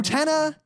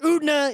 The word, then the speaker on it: Utena: Utena has a slight emphasis on the te, the way I said it. Utena is not how they say it in Japanese either, and Utna is ridiculous.